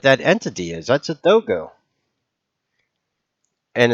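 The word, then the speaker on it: Dogū: That's a dogo. And it's kind of interesting because dogo is spelled Dogu.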